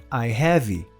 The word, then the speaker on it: have: Muitos brasileiros tendem a pronunciar essa palavra com o som de I, I have, sendo que o final dela é um som de V, com os dentes superiores tocando o lábio inferior.